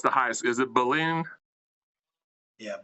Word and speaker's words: Belen: I'm going to need you to help me pronounce the high school. Is it Belen? Yeah, Belen Jesuit.